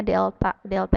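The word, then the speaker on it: Δ: saya bilang lambang ini segitiga ini bukan dibaca segitiga polri dalam fisika d dibacanya delta-delta itu artinya perubahan jarak lubang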